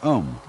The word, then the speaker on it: Om: One of the basic mantras is, of course, the sound Om. That sound is used because if you spell it out, A-U-M, it runs from the back of your throat to your lips, and therefore it contains the whole range of the voice.